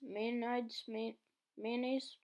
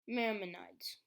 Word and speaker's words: Maimonides: Maimonides. Is that how you say it? Maimonides? Mayonnaise? Maimonides.